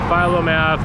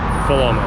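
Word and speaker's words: Philomath: name of this town you say philo math we're going to make fun of you things like that so just call it fulham i don't know why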